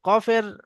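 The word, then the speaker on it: ق: আগে বাড়িয়ে সেই বরাবার উপরে তালুর সঙ্গে লাগিয়ে কাফ উচ্চারণ হয় এবার দেখুন এখানে অনুশীলন আছে কি কি?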